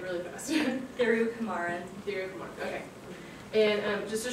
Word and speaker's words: Thirukumaran: It's presented by Thirukumaran. Yes. How do you say it like really fast? Thirukumaran.